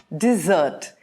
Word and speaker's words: dessert: Desert, dessert, dessert. The emphasis is on that double Z.